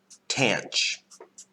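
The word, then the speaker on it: tanh: we refer to as tanch x. Rhymes with ranch, like the dressing.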